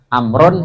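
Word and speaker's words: عمرو: Amrun sama Umaru. Nah, bedanya di situ, ada wawunya sama nggak ada wawunya. Cara bacanya, jangan kalau nanti tulis Umar tapi ada wawunya ya, gitu ya.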